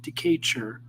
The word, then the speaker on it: Decatur: See, it's pronounced decatur, like this. Oh, that's what the heck it's called, decatur.